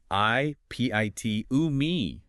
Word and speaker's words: epitome: Because of its Greek roots, the rule is you pronounce every single syllable. I p I t u me.